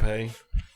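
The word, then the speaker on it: épée: E.P. White. Would that be a name? Are you trying to do Would be Epee? Yeah. Epee. Is that pronounced E.P.? No.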